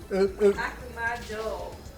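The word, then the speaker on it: 悪魔城: Akumajo, not Jew.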